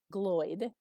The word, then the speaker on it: Gloyd: And, pick out my name, Gloyd, okay? It rhymes with Floyd and like Pink, the band.